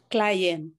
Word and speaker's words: Klayen: do you say your last name k kayn clien client okay and we also have Salam clien